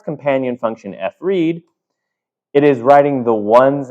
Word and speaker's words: fread: You can call it Fred, kind of rhymes with bread, but fread, file write.